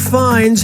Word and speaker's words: Fiennes: But I'm never certain if I'm pronouncing his name correctly. What's the proper way to say that Mr. Fines has to throw up?